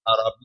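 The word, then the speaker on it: اعرابی: ایک عرابی آیا، عرابی، صحیح پروننسیشن عرابی ہے، نہیں ہمارے بیان کا عرابی کہتے ہیں، وقالت الاعراب، قرآن میں بھی یہ لفظ عرابی ہے، تلفظ ٹھیک ہونا چاہیے۔ عرابی آیا مسجد نبوی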